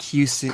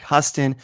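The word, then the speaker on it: Huston: recent Ben her and Stacy mispronounced Jack Houston as Jack hustin but she quickly spelled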